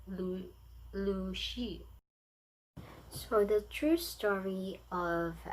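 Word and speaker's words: Lu Xun: of the author, uh, literally we read it Luxun or Lushun, but in Chinese, the pronunciation is Lu Shi.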